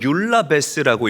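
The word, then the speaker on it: εὐλαβής: 또한 경건하다라는 말은 헬라어로 율라베스라고 읽고 발음을 해요. 율라베스.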